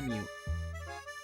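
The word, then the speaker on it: μ: Ini huruf Yunani ya, bacanya mu. Mu gitu ya, mu. Mu. Mu. Ya oke ya. Ini bacanya mu, oke?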